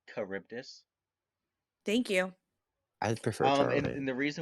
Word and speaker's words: Charybdis: real fast before we uh jump anywhere it's pronounced charybdis thank you i would prefer and the reason